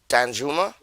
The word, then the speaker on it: Danjuma: Dan Dujamo, Juma, I think you pronounced that. Danjuma. Because it's a silent H, if I remember right, because of where he comes from.